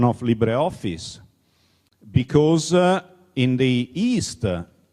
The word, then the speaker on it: LibreOffice: to be pronounced as library office which is crazy. It the the the word is is from Latin is from li the closest word you can find in English is liberty.